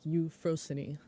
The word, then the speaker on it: Euphrosyne: matter but uh so it is a Greek word so it would be like you frozen much like nemosini or uh Persephone got it it's weird in English having the final ee be pronoun pronounced yeah it is thank